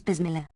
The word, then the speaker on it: Bismillah: kept FN number 369 dictionaries give the word boss Miller equals saying Bismillah but the common pronunciation is Bismillah FN number 370 Quran